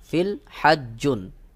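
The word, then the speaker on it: في الحج: জিম 2 পেশ, June, ফিল হাজ্জুন। যখন আপনি এখানে থেমে যাবেন অর্থাৎ ওয়াকফ করবেন তখন এই ফিল হাজ্জুনের স্থানে এই জিমের স্থানে কিন্তু অন্যভাবে উচ্চারণ করতে হবে। সেটা কেমন? যেমন ফিল হাজ্জ, ফিল হাজ্জ, অর্থাৎ এই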